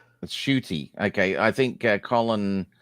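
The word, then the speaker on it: Ncuti: from 2020 yes yeah yeah how did you pronounce his first name judy i thought it was i thought it was i thought it was shitty that's shooty okay i think uh colin oh sorry uh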